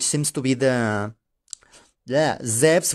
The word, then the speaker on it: Zeus: I refuse to pronounce it as Zeus, right? Or even Zeus. Even Zeus would be more acceptable for me. Zeus, which seems to be the... Yeah, Zeus, which seems to be the Greek pronunciation, alright?